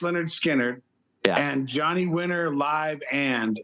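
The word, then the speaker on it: Lynyrd Skynyrd: for some reason he had uh Leonard skinnard pronounced Leonard skinnard and Johnny Winter live and and uh ni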